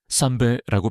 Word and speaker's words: 선배: 선배는 영어로 시니얼가 아닙니다. 선배는 그냥 한국어 발음 그대로 쌈배라고 표현하는 것이 맞습니다.